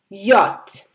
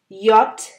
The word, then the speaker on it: Jot: Jot. Jot v Japan. Germany kintu J letter ta keo pronounce kore English er Y er moto.